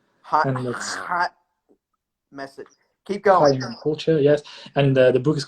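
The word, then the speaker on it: Chaim Holtjer: And pronounce that whole name again, because I don't want to butcher it. My name, Chaim Holcher. Hot message. Keep going. Chaim Holcher, yes.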